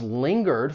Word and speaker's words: linger: When you pronounce this verb, it has two syllables. The stress is on that first syllable, linger. But I want to focus on that ng because it can be a little confusing. Look at these two words. They are not rhyming words. Singer, you only have that ing sound.